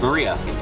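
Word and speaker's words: 真里亞: remember her name is written of course is pronounced Maria third character looks like a cross which is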